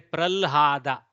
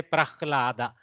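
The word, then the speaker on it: प्रह्लाद: Some people pronounce it lha, lha. For example, Maharashtra, they will say pralhada. They won't say prahlada. If you come to Karnataka, we say prahlada. We go ha first, then lakara.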